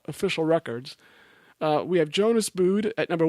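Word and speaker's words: Buud: her, and that's Jonas Boud. I think that's how you say his name, B-U-U-D, I think, Boud.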